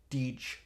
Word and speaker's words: Deej: Because it's D with a hard J. Deej.